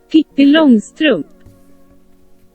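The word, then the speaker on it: Pippi Långstrump: But screw it, here is how you're supposed to pronounce her name originally. Pippi Longstrump.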